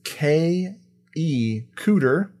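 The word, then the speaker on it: Kay E. Kuter: Speaking of X-Files, the dean of the school, school is K.E. Cooter. That's how you pronounce his name.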